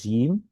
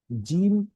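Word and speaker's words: جيم: আচ্ছা, তারপরে যে হরফটি সেটা হচ্ছিল জিম। এখানে লেখা শক্ত এবং মজবুত আওয়াজে পড়তে হয়, জিম। এটা একটু শক্ত হয়ে, জিম, জিম, জিম।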